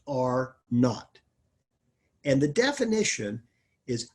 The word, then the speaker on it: R naught: capital r with a subscript zero but it's pronounced are not and the definition is how many new persons